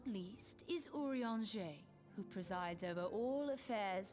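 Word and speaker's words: Urianger: whenever you have questions urea and Jay sounds like the word for like an orange tree in French which is even the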